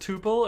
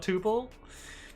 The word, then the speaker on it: tuple: It's actually pronounced tuple and not tuple.